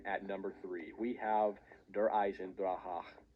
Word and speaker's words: Der Eisendrache: number three we have der eisendrache you have to pronounce it like that otherwise there will be angry german people in your comments this map is perfection